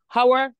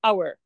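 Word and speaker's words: hour: ما بقولش هاور، بقول اور.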